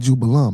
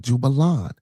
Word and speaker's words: Jubelum: So again, Jubel, Jubel, Jubella, Jubello, and Jubelum, not Jubelon.